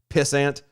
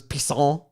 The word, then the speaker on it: pissant: Where when he went undercover, his undercover name was Pissant, but he kept saying it was Pisson. Yeah. It was French. That's Pisson.